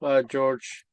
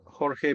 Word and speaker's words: Jorge: I'll introduce myself, George, or Jorge for the ones that can speak Spanish or can pronounce the J.